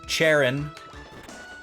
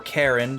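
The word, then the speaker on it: Charon: at that uh because cherin or Karen depending on your pronunciation preference I don't know if one is empirically correct uh was the uh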